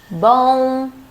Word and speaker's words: bom: But when M is at the end of a syllable or a word, it changes. It doesn't sound like M anymore. It nasalizes the vowel before it. Bom, com, sim, também, homem. You don't really pronounce the M. You just nasalize the vowel.